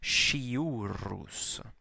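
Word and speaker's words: sciurus: And then shiurus, the SC in front of an I or an E is pronounced like an English SH, shiurus.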